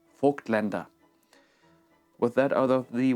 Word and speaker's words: Vogtländer: a German brand name, I have started to call it the English name Voigtländer, which is so fucking wrong, and I'm trying to retrain myself for the German for the proper pronunciation of Vogtländer.